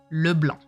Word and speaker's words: LeBlanc: like um in English it has to be French because the the two words are French it's LeBlanc it's not LeBlanc it's LeBlanc there's no at the end um she's one of